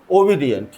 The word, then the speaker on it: obedient: सो यहां पे ओबी डी एंट 3 सिलेबल यहां पे भी है। ब्रेक, जो पॉज मैंने बोला था, we speak something and we take pause, तो वो पॉज लेते समय हम इसको 3 सिलेबल में डिवाइड करते हैं, ओबी डी एंट, ओ वी, ओ वी, O1, V2 and D and 3. So 3 syllable हो गए इसके।